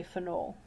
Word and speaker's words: phenol: always called a phenol some places pronounce it a little bit differently some people might say for knoll okay so those mean the same thing aniline is a substituted